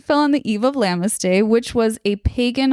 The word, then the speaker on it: Lughnasadh: This date fell on the eve of, I think it's pronounced Lammas, but it is spelled Lughnasadh.